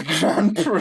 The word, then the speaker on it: Grandpre: Last is spelled Grandr. No. Grandpre.